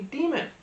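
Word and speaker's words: daemon: Now, the biggest and most remarkable thing about Lyra's world is that every human has a demon, and it's not like a devil, although that would be interesting if it was.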